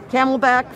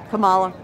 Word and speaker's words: Kamala: I don't think Biden's going to make the 4 years and the camelback, forget it. The camelback, who's that? Kamala. Oh, wow. That both mispronounced the name and xenophobic.